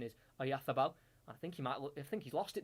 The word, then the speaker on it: Oyarzabal: He's been replaced by, here we go, I've got to put a lisp on now, Mikel Oyarzabal comes on of Real Sociedad. That's how you pronounce it in Spain. For English it is Oyarzabal, but Spanish pronunciation is Oyarzabal.